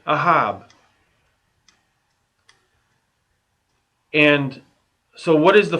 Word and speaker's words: אהב: you put them together aleph hey bait you get ahab and so what is